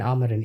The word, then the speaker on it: Amorim: How do you pronounce his name? Sorry. Ruben Amorim. Is it Amorim? It's Amorim.